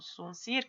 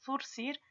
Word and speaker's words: zurcir: Por ejemplo, rechazó, zumbido, pedazos, zurcir, que ustedes tienen un zuncir que no existe, pero es zurcir, azafata, rezagado, azadón, azaleas, pieza, balazo, etc.